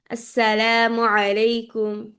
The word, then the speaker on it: আসসালামু আলাইকুম: আপুরা সালামের যে শুদ্ধ একটা উচ্চারণ আছে ওটা আজকে আমরা ইনশল্লাহ শিখব সবাই আসসালামু আলাইকুম ওয়ারাহমাতুল্লাহ সবাই আমার সাথে বলুন আসসালামু আলাইকুম আসসালামু আলাইকুম আসসালামু আলাইকুম আসসালা হচ্ছে